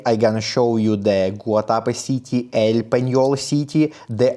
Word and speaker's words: Guatapé: And the eagle Saint John, pronounced Guatapé, with an accent on the left.